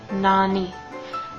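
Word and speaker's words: なに: for instance another good word would be like Nani it means what in Japanese like a question so in English it looks like it might be something like n but it's not it's Nani and the a is pronounced like it is awesome and the ey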